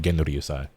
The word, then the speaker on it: Genryusai: No, going based off of my knowledge of how the Japanese language works, it is Genryusai. I'm almost certain. I never really thought about it out loud before, but now that I'm actually pronouncing it out loud, it has to be Genryusai.